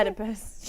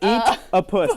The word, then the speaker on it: Oedipus: You must correct your pronunciation of Oedipus. Oedipus. Not You literally eat. just said eat a puss.